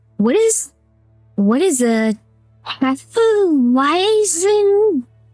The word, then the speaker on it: Hefeweizen: like, what is a Hefeweizen? Hefeweizen? That's a W. Why would you pronounce W like a V?